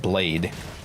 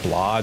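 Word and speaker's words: Blaidd: his name wrong cuz his name is spelled blade but it's not that's not how you say it it's like it's like blah or or something like that BL yeah yeah yeah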